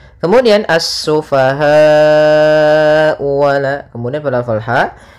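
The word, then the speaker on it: السفهاء: lafal assufaha di sini ada alif lam syamsiah yaitu alif lam yang ditulis tapi tidak dibaca sehingga langsung kita membacanya ke huruf Sin kemudian asufahau wala Kemudian pada alfal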